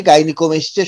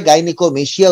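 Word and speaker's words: gynaecomastia: সেই বইতে প্রিন্টিং মিস্টেকের কারণে গাইনিকোমেস্টিয়া শব্দ থেকে টিটা অমিট হয়ে গিয়েছিল, তাদের বানানে টিটা ছিল না, সুতরাং সবাই গাইনিকোমেশিয়া উচ্চারণ করত সেটা দেখে।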